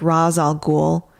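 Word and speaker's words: Ra's al Ghul: get a glimpse of ras all ghoul which is how i say his name um and we see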